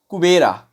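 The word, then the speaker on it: Kubera: Letter went to the garden of कुबेरा। वो एक कुबेरा के गार्डन में जाता है। द किंग ऑफ वेल्थ, है ना, कुबेर भी यहाँ बोल सकते हैं, कुबेरा इंग्लिश में प्रोनाउंसिएशन करेंगे।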